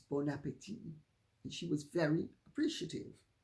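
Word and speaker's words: bon appétit: mind by saying but the t is silent it's bon appetit and she was very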